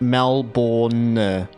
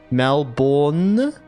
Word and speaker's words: Melbourne: Regarding the pronunciation of Melbourne, here in Brazil, we tend to be more instinctive and pronounce all the letters. It sounds more or less like Melbourne. Melbourne? Yeah, like all of it. Yeah. And I feel like a lot of people, I feel like US, like I hear Americans say Melbourne, like, you know. But it's like for us, we just say Melbourne. Bun. It's like bun. It's like take the word bin and then say it in a Kiwi accent.